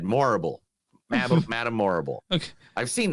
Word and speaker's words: Morrible: Michelle Yeoh has reportedly boarded the Wicked adaptation in a key role too as Madame it's Madame Horrible, but with an M instead. Morrible.